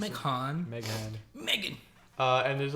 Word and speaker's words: Meghan: It's crazy that her name is Meg Han. You know what I mean? Yeah, That's Meghan. how you pronounce it. McCon. Meg Han. Megan.